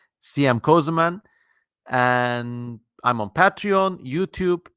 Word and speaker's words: Kösemen: it sounds like that thing that's just how it's spelled cm cozuman and I'm on patreon YouTube and my website